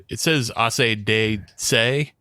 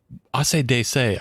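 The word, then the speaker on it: AC/DC: the trivia, but like when you pronounce it out, it says Ase de Se. Yeah. And I was like, Ase de Se. What does that translate to? Makes to what? But it's not a translation. It's because he heard it phonetically. It's ACDC.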